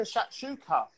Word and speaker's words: shakshuka: They've got like a shakshuka.